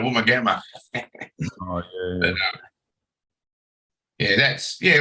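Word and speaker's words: Woomargama: eating out Mars but when you first see this it says W double o m a r g a r m a and you go um it's nowhere close the sound what it is it's a woman gamma oh yeah yeah that's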